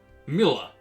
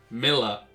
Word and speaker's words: Milla: Still, Mila, Milla. That's another talk point I forgot. The name is Milla. I think I said it right. The L isn't silent.